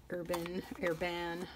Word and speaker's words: Herbin: This is the Rouge Hématite by Jacques Herbin. That's how I say it in my pseudo-French accent. Urban, I've heard people pronounce it, but there's my mangled French version. Anyway, this to me looks very similar to this one.